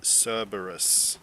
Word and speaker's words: Cerberus: Alright, so I looked up the right pronunciation. Looks like I was just saying it wrong. It's actually Cerberus, so that's how you say it.